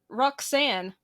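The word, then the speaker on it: Rhok'zan: And when she goes to her bedroom, she accidentally summons an eldritch goddess named Roxanne. It's spelled RHOK''ZAN.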